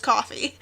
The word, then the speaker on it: Ko-fi: a little bit differently it's like the buy me a coffee so it's probably coffee it's probably pronounced coffee um but I now